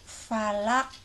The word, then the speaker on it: falaq: Qul a'udzu birabbil falaq. Awas, huruf akhir itu ada huruf qalqalah, qaf, maka harus dipantulkan cara membacanya.